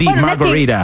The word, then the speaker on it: margarita: La pronuncia americana, la T la rende tecnicamente una D, margarita.